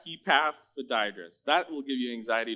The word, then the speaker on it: Epaphroditus: I watched a YouTube clip how to say his name, Epaphroditus.